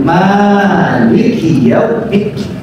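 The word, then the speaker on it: مالك: Iya, dalam tradisi qiraat, cara membaca Al-Qur'an di dalam Islam, Ibnu Katsir menyebutkan qara'a ba'dul qurra Malik, sebahagian ahli qiraat membacanya dengan Malik. Ma-nya panjang, Maliki Yaumiddin.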